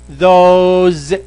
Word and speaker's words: those: And ملاحظة سريعة إنه لا تنطق هذه these ولا هذه those، النطق الصحيح هي بالزا، these those، تماما زي ما بننطق هذه.